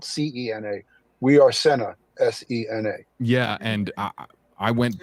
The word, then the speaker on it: Sena: She said Cena is pronounced Cena and it's spelled Cena. We are Sena, Sena.